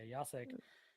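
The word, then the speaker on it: Jacek: you pronounced your name I was saying so I totally apologize for you yasek I appreciate you coming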